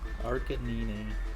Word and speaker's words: Arcanine: Arcanine. I think Arcanine was, I think that's pretty universally accepted pronunciation.